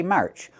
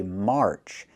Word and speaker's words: March: Okay, so we don't say March, we say March. Use the R sound like car and far.